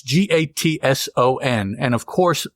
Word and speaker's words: Gatson: n and of course my impulse is to pronounce that Gast G yeah because that's just easier to do but that's not the name the name is Gatson I just let me